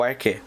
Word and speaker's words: arché: O arqué, ou arquétipo, pode se escrever assim, arché, mas ele é o arqué.